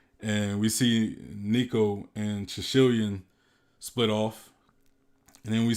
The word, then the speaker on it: Shishilian: I like to say Sicilian. This is easier, but Shishilian is that's how it's pronounced.